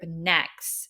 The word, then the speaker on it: NEXZ: debut of boy group Next it's spelled NE exz it's like next Generation it's supposed to symbolize